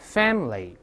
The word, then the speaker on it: family: 我们可以体会一下 family family 哎，而不是 family 那个哎不发音啊。